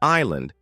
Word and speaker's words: island: the GH is silent in Island the S is silent instead of guessing the